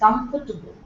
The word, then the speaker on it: comfortable: our problem right it's comfortable it's St okay there is no table it's only there in the spelling it's not there in the pronunciation comfortable are you comfortable